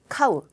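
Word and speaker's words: 飼う: 자, 그리고 C번에 있는 것은 카우, 기르다. 우리 그 사다라고 하는 가우, 살 때는 가우라고 읽지만은 키우다는 카우. 악센트가 저 카에 있어요. 악센트가 좀 다릅니다.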